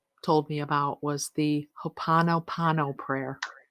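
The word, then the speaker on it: Hoʻoponopono: Hoponono. And the Hoponono goes, Ho'oponopono. Well, I said it wrong, but you I got what could I be, it says, I love you.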